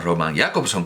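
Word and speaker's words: Jakobson: Jacobson, a Roman Jacobson, no lo llaman Roman Jacobson como hacemos en Europa, y desde luego como harían en Praga, porque allí todas las palabras son esdrújulas, se acentúan en la primera sílaba dicha. Los rusos dicen Roman Jacobson.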